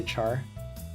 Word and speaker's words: char: Uh car integer real string etc. By the way I know a lot of people say char it's short for character. So I I use the uh the hard C uh values is a